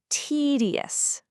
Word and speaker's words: tedious: Now, put it all together smoothly and make sure you put the stress right on that very first syllable. Tedious. Tedious. Try saying it out loud wherever you are right now. This is a tedious task. His speech was completely tedious. You know, you might notice that the middle syllable almost softens into a D or even a super soft J sound depending on the speaker's